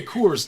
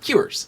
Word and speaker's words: Coors: say Coors just by itself, Uh-huh. but when I am speaking it in a sentence, it comes out cures.